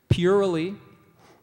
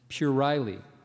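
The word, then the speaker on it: puerile: uh oh when I said this one okay purely and pury pury purely pury pury p u r i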